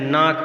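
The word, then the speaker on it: knock: नाक में जो है K साइलेंट, ऑफन में T साइलेंट है और गाइड में U साइलेंट है।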